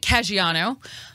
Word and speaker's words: Caggiano: Frank Caggiano, I finally learned how to say it, is the Bishop of Bridgeport.